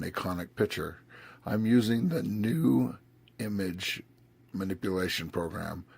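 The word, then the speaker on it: GNU: I'm using the new image manipulation program called GIMP. New is spelled G-N-U.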